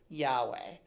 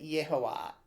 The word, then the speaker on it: Yahweh: First and foremost, I pronounce Yad-He Vav-He as a word, Yahweh. Or you could do it Yehovah.